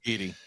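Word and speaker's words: Edey: know with Eddie Edie what is it Eddie or Edie I never can't pronounce his name Edie Edie thank you PJ that's the third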